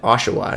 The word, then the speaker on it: Oshawa: oshawa oshawa canada and oshawa is how you say i believe and it's just so